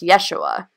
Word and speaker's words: Yeshua: have J's and Greek his name would've been pronounced yeshua not through jesus so I mean if you